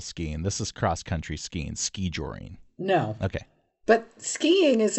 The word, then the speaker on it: skijoring: The word is ski-joring. Ski-joring. And that's how it's pronounced? Ski-joring? Yes. Emphasis on the first syllable.